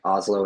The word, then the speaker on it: Hazlo: Um, I would say I I mean obviously you can find everything about us on Drink Oslo and Oslo is spelled H A Z L O.